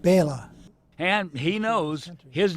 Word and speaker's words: Bela: Dracula, a creature conjured up by author Bram Stoker, but brought to life by Bela Lugosi. That's not right. How do you say it? Bela.